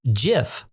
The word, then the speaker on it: GIF: CompuServe where GIF came from. Yes. Ladies and gentlemen, it is pronounced with a soft G.